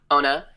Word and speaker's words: Ona: So I am here with, is it Ona? Is that how you say it? Ona, yeah.